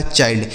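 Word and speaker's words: child: डी से ड लिखा चाइल्ड यानी आई के बाद चाहे एन और डी लिखा हो या फिर एल डी लिखा हो उन दोनों का उच्चारण हम क्या कर देना है आई के रूप में डब्ल्यू आई एल डी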